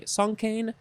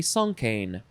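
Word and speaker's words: cinquain: i think uh the the proper french way to say this would be a song song kane song kane yeah if you write a poem that's got five lines it is a song kane next is ching ching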